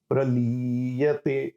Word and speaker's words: प्रलीयते: भूतग्राम स एवायं भूत्वा भूत्वा प्रलीयते, प्रलीयते में ली की मात्रा दीर्घ बड़ी वाली है, ठीक है?